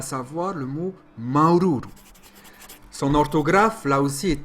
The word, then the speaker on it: maururu: Maururu, qui veut dire merci, mais aussi gratitude, satisfaction, s'écrit ainsi. Maururu. Comptez bien les U, il y en a 4 en tout. Remarquez qu'il n'y a pas d'occlusive glottale, mais il y a une longueur sur le A.